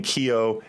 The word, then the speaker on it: Kyo: also out of china i'm going to be saying kyo and gauka because that's how you actually pronounce them snark is going to